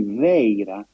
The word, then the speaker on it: Vajra: But the best approximation for the pronunciation of Vajra, Vaira, in Prakrit, Gandhari, is actually Veira, which is exactly the